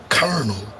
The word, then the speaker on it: colonel: Mosquito or colonel, not a the corn, but the position of the the rank in military term.